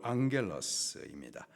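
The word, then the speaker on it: ἄγγελος: 천사, 헬라식 발음으로 앙겔러스입니다.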